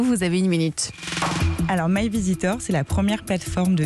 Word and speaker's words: My Veasytor: Vous avez 26 ans, vous êtes la cofondatrice de My Visitor, mais ça s'écrit V-E-A-S-Y-T-O-R.